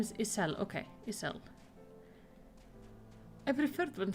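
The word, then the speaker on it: Ysayle: Her name is Isel. Okay, Isel. I preferred when she was just called Isart. That was something I could definitely pronounce. Isel. It's like Justola with like a J instead of a Y.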